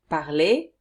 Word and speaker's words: parlez: at the present tense, you pronounce it exactly as in the infinitive form.